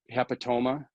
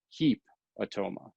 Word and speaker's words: hepatoma: okay so you might hear someone say um hepatoma hep atoma or hepato ma hepatoma so that's where you're going to kind of get just a little bit of a difference in how people pronounce it but it's not heap automa hepatoma okay it's not that because